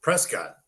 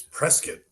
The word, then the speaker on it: Prescott: Um, that's further proof of how cowboyized they are that it's not Prescott, it's Prescuit.